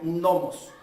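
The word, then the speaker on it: νόμος: Ahora, la palabra ley, lo que fue traducido del griego, viene de una palabra griega que significa, se pronuncia nomos.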